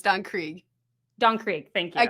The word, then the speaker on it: Don Krieg: Just so you know, it's Don Krieg.